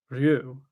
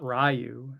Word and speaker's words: Ryu: I like to say Ryu, not Rayu as some Ryu. Ryu, that's how Yeah, that's how you would say it if you were in Japan.